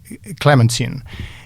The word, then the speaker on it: Clementine: Churchill, o Winston Churchill fazia muita questão de que fosse Clemensine e Clemensine fazendo juzgos, fazendo justiça aos seus antecedentes e franceses, porque ela era de origem francesa, Clementineier, em francês, Clementaltin em inglês, eles diziam Clemensine, Clementine Pronto.